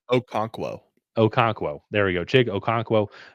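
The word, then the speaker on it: Okonkwo: How do you pronounce Okonquo? Okonquo.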